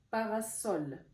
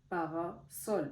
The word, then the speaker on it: parasol: sens c'est avec un S donc ça se prononce S parasol parasol parce qu'on dit sol il y a un